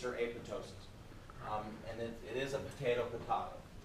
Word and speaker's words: apoptosis: So anytime you have the P in front of a T, a lot of times the P is silent. So there's a thing called ptosis, which is like a drooping of an eyelid, drooping of a foot. You don't pronounce the P. So here, it could be the exact same way.